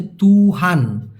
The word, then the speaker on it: tuhan: আর একটা হচ্ছে তুহান, TUHAN উচ্চারণটা হচ্ছে তুহান।